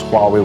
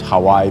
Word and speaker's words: Huawei: At that time, I didn't know how to pronounce Huawei well. It was Hawaii, maybe something like this.